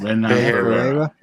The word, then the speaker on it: Ferreira: Ferreira. Is that how you pronounce it? Ferreira.